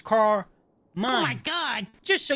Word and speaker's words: Carmine: You know, I got if you say my name slow and you break it apart, it's car mine. I like to pronounce it as car mine.